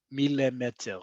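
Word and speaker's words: מילימטר: gershayim mem, know that it means milimeter, as we say in Hebrew.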